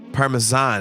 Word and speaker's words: Parmesan: Parmesan is actually the correct pronunciation.